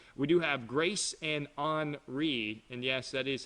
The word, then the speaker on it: Henri: We do have Grace and Henri, and yes, that is how you say it.